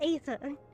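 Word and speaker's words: Aether: I think it's ether. It's ether. No, no. E. No, Ether. it starts with an A, so it's ether. The A is silent.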